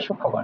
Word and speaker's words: সূক্ষ্মকোণ: এটা উচ্চারণ হবে সূক্ষ্মকোণ।